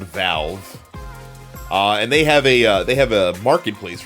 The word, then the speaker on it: Valve: It's pronounced Valve.